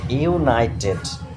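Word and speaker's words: united: ওকে, 8 ইউনাইটেড।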